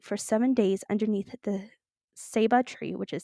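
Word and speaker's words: ceiba: had to sleep for seven days underneath the Saba tree which is spelled c e i b a and this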